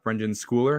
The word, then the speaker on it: Brendan Schooler: Because like last week we saw Brendan Schooler, is that how you say it?